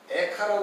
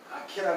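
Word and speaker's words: איכה: 게, 에레미야서의 핵심은 뭐냐면 이걸 에카라 그러기도 하고 아케라 그러기도 해요. 발음이 어디 있지 있냐에 따라 달라요. 그래서 에카라고도 많이 읽고 또 아케 이렇게도 읽는 사람이 있어요.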